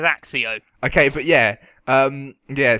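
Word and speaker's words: Accio: believe I fireb AIO they pronounce it AO don't they yeah but that's cuz the film's wrong Steven fry is correct and he says axio okay but yeah um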